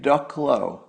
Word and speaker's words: Ducklow: Somebody named TJ Ducklow. It's spelled just like a duck, and then with an L-O on the end.